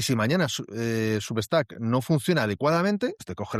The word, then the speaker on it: Substack: Muy bien, pero tienes subtrack. Nunca lo pronuncio bien. ¿Cómo es? Substac. Substac, sí.